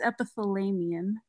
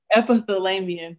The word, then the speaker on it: epithelium: uh ep epithel so i don't know how to say this word y'all episode episode it's epithelium epithelium thank you uh in